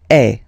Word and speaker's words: es: And for tu, then you've got this combination of letters, okay, but then basically the sound you will pronounce or you will produce is e, okay, tu es, all